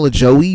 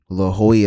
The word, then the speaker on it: Lajoie: looks like I know I know it's not pronounced like that but I think he said it in this video but if if he did I'll I'll re-watch it just to make sure but I'm pretty sure he said I'm pretty sure he pronounced his name the way it should have been La Joy or something like that John lahoy hmm I